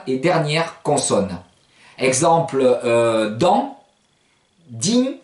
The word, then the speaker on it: dins: D'une manière générale, ne prononcez jamais la dernière consonne, la deuxième et dernière consonne. Exemple, dans. Din, D-I-N-S, vous ne direz pas par exemple dans ma